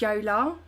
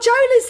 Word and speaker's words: Jola: But we were speaking anyway, and she was like, babe, I didn't tell you this, but my name's actually pronounced Yola because I'm Polish.